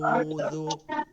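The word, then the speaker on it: أعوذ: আ কিন্তু উটা হচ্ছে হলকের মধ্যখানে আওয়াজটাকে রস উচ্চারণ যেমন উটাকে ভিতর নিয়ে বলতে হবে উ আউজু আউজু আউজু একটা শব্দ আউজু আউজু আউজু আউজু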